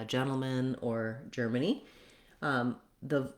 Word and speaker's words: Germany: Finally, Germany, again, has first syllable stress, and it is just like the word germ. Letter G says the J sound.